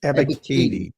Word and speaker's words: Ebiketie: How do you pronounce the name? Ebiketie? Ebiketie.